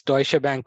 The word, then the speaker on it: Deutsche Bank: working there okay so initially I pronounced it very bad uh it's Deutsche Bank what what the company is actually known yeah yeah but yeah that's that's uh something which everybody people's pronounce it differently but I think that's